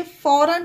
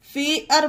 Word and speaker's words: fare: इसे फार नहीं पढ़ेंगे, फेयर पढ़ेंगे, क्योंकि इसका उच्चारण यहाँ पर बदल गया है, एयर हो गया है, फेयर।